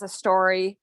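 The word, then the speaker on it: Astouri: have a small company um its name is a story it's spelled a-s-t-o-u-r-i just so you know um and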